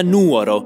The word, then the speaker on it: Nuoro: Eccomi a Nuoro. Mi raccomando, non sbagliate pronuncia, l'accento va sempre sulla N.